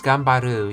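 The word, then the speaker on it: 頑張る: Let's see how that's pronounced. Oh yes, Gambaru, yes.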